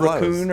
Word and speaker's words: raccoon: Is it raccoon or raccoon? It's raccoon. Raccoon because Saloon. it fits saloon.